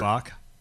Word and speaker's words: Bock: You have to say that with that kind of name because it's I Bock. have to spell my last name. Yeah. See, And and it rhymes with rock.